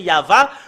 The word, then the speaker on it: Yahvah: première partie c'est ya mais sur la deuxième partie l'ont changé en V alors que nous avons vu dans la Bible hébreu tout à l'heure c'est yava quand on le prononce il y a la